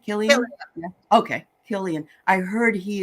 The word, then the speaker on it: Cillian: that Oppenheimer is Sicilian Cillian whatever his last name is is that how you say it Killian okay helian I heard